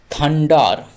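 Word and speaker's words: thunder: বজ্রপাতের ধ্বনি অর্থাৎ বজ্রধ্বনি এক্ষেত্রে টিএইচ টা কিরকম ভাবে থ হচ্ছে দেখি না টি এইচ প্রথমেই দেওয়া আছে এটি হলো থ এটার উচ্চারণ হলো থ এবার ইউ এন আন তাহলে থ আন থ আন ডি ই আর ডার থ আন্ডার থান্ডার থান্ডার মানে হলো ধ্বনি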